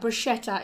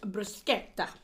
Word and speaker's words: bruschetta: Well, I found out the other day that bruschetta is actually pronounced bruschetta. Yeah. It's not bruschetta like everybody thinks it is.